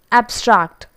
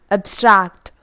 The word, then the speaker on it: abstract: taken into consideration now the second word when it has been used as noun and adjective we have to stress it on the first syllable and it goes like this abstract abstract abstract but when the same